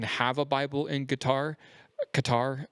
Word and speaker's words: Qatar: Um, it's not guitar. It's Qatar. Yeah. And because it's a Q. Yeah. QQar. But I think they say it like a like a deeper G. Like a deep throat G.